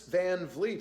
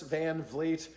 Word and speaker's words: Van Vliet: And yes, that's how you pronounce it. Chris Van Vliet.